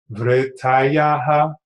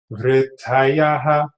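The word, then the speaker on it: vṛttayaḥ: Vrittayaha panchatayaha klishta klishtaha. And you also have to pay attention to the pronunciations. Notice the R with the dot beneath it. That's the rit sound.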